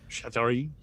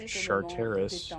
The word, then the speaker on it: Charteris: Chattari?